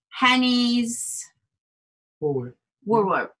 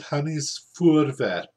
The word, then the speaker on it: Hanny's Voorwerp: I can't even pronounce this object, and it is called Hanny's Woolworth. Who can help us pronounce it will be very welcome. James, Chris, anybody? And so, okay, you could pronounce it Hanny's Voorwerp. Very good.